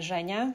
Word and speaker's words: Zhenya: I often went by Zhenya, which is the short version of a Russian name, which isn't anything like Jenny, but Zhenya sounds a lot like it, and it's easier for people to pronounce.